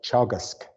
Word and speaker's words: Teagasc: Teagasc, yeah. Say again? It's an Irish word, teagasc. Teagasc.